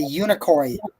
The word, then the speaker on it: Unicoi: The Unicoi, I'm hoping I pronounced that right.